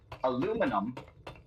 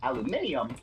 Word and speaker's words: aluminium: letters work, and you look at the word aluminum, there's a couple letters that you're not pronouncing there, but aluminium does pronounce them. Weird. Maybe that's how that word is supposed to be said.